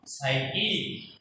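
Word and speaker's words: psyche: हाँ इसमें देखिए पी साइलेंट रहता है, साई और सी एच का कै भी बनता है, ई हो गया की और जय, जय का मतलब काटे की, साइकी जय बावर, बावर क्या होता है?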